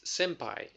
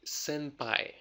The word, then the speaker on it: senpai: know native speakers you will often hear like an M sound now here's the weird thing it's spelled with an N so why does the n becomes M when Japanese is pretty clear about pronunciation you see it's very popular in Japanese or for Japanese people to change the pronunciation to make it easier for them to pronounce the word okay so if I'll